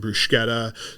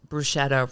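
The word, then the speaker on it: bruschetta: an entire array of starters um anything from brushetta to cheese bread we have multiple flavors of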